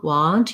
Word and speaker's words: want: words in the sentence focusing on the ah want your mouth is more open and the vowel is further back versus the went you're going to see it has the red tent vowel so um and it